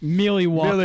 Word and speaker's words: Milwaukee: It's pronounced Milwaukee, Milwaukee. which is Algonquin for the good land.